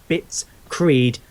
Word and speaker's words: Bitscreed: Screed as in angry ranting, not bitscreed the awful band.